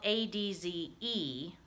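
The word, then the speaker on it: adze: And in my dictionary, the one we have in the classroom, it's spelled A-D-Z-E, but it's a type of tool, kind of like an axe, okay? So adz, they'll bring that up in here.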